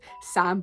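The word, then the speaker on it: Sa5m: And Vanessa Hudgens in it, and she plays a character called Sam, but the 5 is silent, because when she spells out her name, she puts a 5 in the middle of it for no fucking reason.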